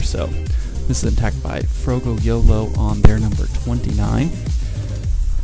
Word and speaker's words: Froggo: name wrong I guess first I said bro go and then I said frog Oh apparently it's actually fro go yellow so I apologize man